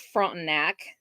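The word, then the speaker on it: Frontenac: don't know Kansas towns that's front neck it's how that's pronounced it's a little tiny town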